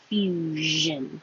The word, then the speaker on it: fusion: Fusion. And this SION is a Z with voicing.